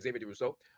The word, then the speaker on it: Xavier Durousseau: His name is Xavier Durousseau. Did I pronounce That is that right? correct. Yes, Okay, you did. French is one of the languages I don't actually speak. So Xavier Durousseau, who is a young